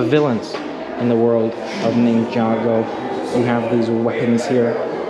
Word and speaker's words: Ninjago: a ninja go or ninjago the ride still trying to say it right i was saying ninja go earlier i think but ninjago the ride let's see if we